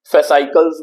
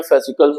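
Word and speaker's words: fascicles: Bundles, also called as फेसिकल्स। फेसाइकल्स बोलते हैं, फेसिकल्स बोलते हैं, एक ही बात है, प्रोनाउंसिएशन की इतनी टेंशन नहीं लेनी।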